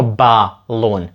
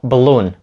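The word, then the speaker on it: balloon: повітряна кулька так балон ми не кажемо балон Ми кажемо Блонь Блонь так ніби там немає нічого між бі і л просто блун далі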